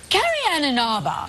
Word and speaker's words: Carrie Ann Inaba: Carrie and Inaba.